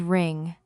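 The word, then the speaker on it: wring: The word is ring. Be very careful with this one. It is pronounced just like the word ring, like a ring on your finger.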